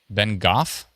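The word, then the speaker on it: Bengough: Ben Goff. Yes. Who knew? Thank you. Uh, BN. How do you know how to pronounce everything perfectly, by the way?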